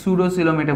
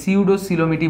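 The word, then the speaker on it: Pseudocoelomate: এটাকে অনেকে সুডোসিলোমেটে বলে, আমরা এটাকে সিউডোসিলোমেটই বললাম, যেটা উচ্চারণ সেটাই আমি বলছি।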